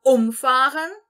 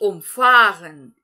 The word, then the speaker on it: umfahren: Nós vamos primeiro aqui entonar a sílaba, a primeira sílaba dele, ou seja, o próprio prefixo. Então, ele vai se tratar de um verbo separável. E depois nós vamos entonar a segunda sílaba do verbo. Então, fica umfahren e umfahren.